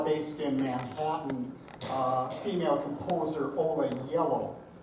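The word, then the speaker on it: Ola Gjeilo: in Manhattan, female composer Ola Yellow. That's how you say her name, if you were at all curious looking at all of those vowels and consonants that don't really make hard sounds. Ola Yellow.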